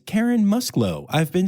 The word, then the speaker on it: Musklow: But no, it's Karen Musklow.